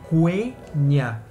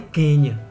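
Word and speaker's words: Quenya: as principais são o quenia que é o alto élfico e olha aí a primeira liçãozinha eu falei quenia eu não falei Kenia que é aquele país lá então é quenia e também tem o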